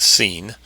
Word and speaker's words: Sin: Sin, H5512, pronounced Sin, is spelled Samak Yod Nun.